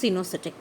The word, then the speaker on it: coenocytic: So this is coenocytic but pronounced cenocytic.